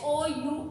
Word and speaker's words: hour: Now here H is the starting letter. H is the starting letter. It is a consonant. But when we are saying, or with the sound, how we all sound is hour means O. There is a O sound. So whenever there is hour or honest, then honor. Whenever we spell these words, that time we say we keep this H silent.